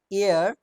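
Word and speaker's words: heir: হি is dash এয়ার টু a large Fortune. এয়ার, এই সাউন্ডটা কিন্তু হেয়ার নয়, এয়ার মানে উত্তরাধিকার, উত্তরাধিকার।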